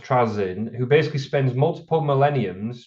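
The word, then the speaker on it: Trazyn: one of his favorite characters from Warhammer, pronounced Trazin, who basically spends multiple millenniums traveling around the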